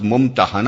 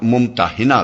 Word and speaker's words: ممتحنہ: الممتحنہ رکھا گیا ہے۔ اس کا تلفظ ممتحنہ بھی کیا جاتا ہے اور ممتحنہ بھی۔ پہلے تلفظ کے لحاظ